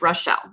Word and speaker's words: Rochelle: It is Rochelle is how it's pronounced.